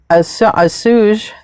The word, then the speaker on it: assuage: can ever do will assuage the general feeling of not being up to par. I don't know if I said that word right, but it's spelled A-S-S-U-A-G-E. Assuage.